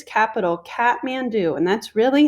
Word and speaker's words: Kathmandu: see the different locations this is its capital kathmandu and that's really how you say it kathmandu and you noticed here is mount everest and